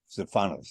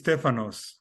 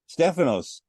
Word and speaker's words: Stefanos: It's Stefanos. Stefanos. Yes, but we have the stress on the first syllable.